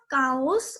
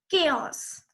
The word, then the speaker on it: chaos: It is not cows or chows. It is pronounced as chaos.